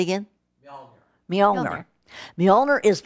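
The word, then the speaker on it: Mjölnir: So the hammer, which is, I think its name is pronounced Molinar. Say again? Mjolnir.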